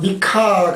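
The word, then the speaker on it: מיכה: 미가서라고 하는 것은 미가라고 하는 뜻이 히브리어로 발음을 하면 미카가 되더라고요. 미카. 그래서 우리말 성경에서 미가로 음역을 해놨는데 그 미가서라고 하는 것은 유다 제11대 왕인 요담이 있어요.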